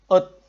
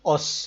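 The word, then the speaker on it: 옷: Ini out. Jadi bukan os lagi ya. Bukan os. Tetapi ini kita bacanya out. Kita baca out.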